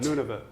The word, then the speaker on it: Nunavut: say this none of it none of what Nunavut Nunavut anyway you want to read to research and